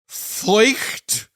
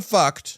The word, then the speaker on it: Feucht: Keen listeners will recall about a year ago, we talked about Christian nationalist Sean Feucht. I'm going to call him Feucht. Sean Feucht, okay. Which I think is how it's pronounced, Feucht.